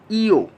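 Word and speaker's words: ㅛ: তো আমরা সেমভাবে যদি আমরা উপরের দিকে আরেকটা টান বাড়াই দিই ওর সাথে, তাহলে ইটাকে আমরা যোগ করে দিব, উচ্চারণ হবে ইও, ই ও।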